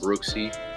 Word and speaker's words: BROOXCIV: So it's pronounced Brooksy.